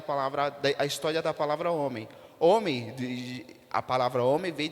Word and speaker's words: homem: ela se escreve homem h o m e m não é verdade homem por que TH o h ele ele não é uma ele não é uma palavra que emite som não é verdade mas